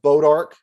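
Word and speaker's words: bois d'arc: there and it's called bodark goodbye but it's it's spelled it's bodark is the french name but it's spelled b o i s d apostrophe arc it's it's means wood of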